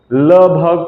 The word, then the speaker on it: वल्लभ: लेकिन कहीं कहीं पे लोग गलत भी करते हैं, बल्लभ को लभ को लब बोल देते हैं, लब, है ना, जैसे BALLABH होता है, ठीक है ना, तो BALLAB भी बोल देते हैं, बल्लभ।